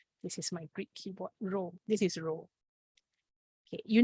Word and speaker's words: rho: density times body okay this symbol is pronounced as row i will show you